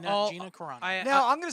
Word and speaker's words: Gina Carano: So we're talking about Gina Carrera, right? Carrera? Yeah, How do you say her name? Gia Carano. Yeah. Is that right? Yeah, I love how Gina Carano.